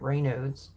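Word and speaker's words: Raynaud's: have Rod rain noes I was corrected on how to pronounce that Ray noes they look at as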